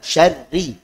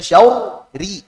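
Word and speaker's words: شَرِّ: Jangan sampai dibaca syauri. Oh, diuraikan tuh. Ra tasydid kan ra sukun sama kasrah gitu. Akhirnya syauri. Nah, salah. Langsung tipis. Syarri.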